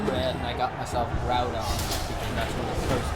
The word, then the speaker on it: Groudon: hey look at the room that's why it's groudon but yeah people mispronounced pokemon names all the time yeah those